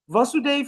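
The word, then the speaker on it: Vasudeva: Vasu Dave, Vasu Dave here has a short a because Krishna Dave is also vas with a long A. So not to confuse the two.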